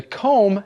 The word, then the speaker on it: comb: can use a comb remember the comb has no b sound at the end c-o-m-b but you don't say the b just comb yes it's one of those